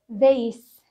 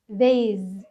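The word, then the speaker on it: this: والاس بتتنطق الساوند بنقول ذيس هنا هتتنطق الساوند زيس مش زيز بالذي ساوند غلط النطق الصحيح لها زيس بالقس ساوند اوكي نشوف المثال اللي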